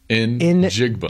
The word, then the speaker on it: Njigba: You pronounce the N and then just say Jigba. Njigba. Jigba.